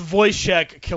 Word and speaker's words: Wojciech Kilar: it's Wojciech Kilar.